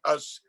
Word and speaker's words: US: was in recent years i discovered us actually was just to pronounce us as opposed to them and he was dividing